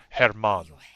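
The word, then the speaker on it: Germán: It spelled like German, but you don't say it German. You say it Herman.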